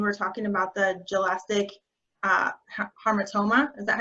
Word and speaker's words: hamartoma: My question is from the beginning of your presentation when you were talking about the gelastic hamartoma. Is that how you say it? Yeah, hypothalamic hamartoma.